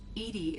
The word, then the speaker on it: EDI: located behind the medical why are you named edie edie is the phonetic pronunciation of edi that is an acronym for